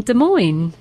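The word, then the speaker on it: Des Moines: I have a question from Connie in De Moines.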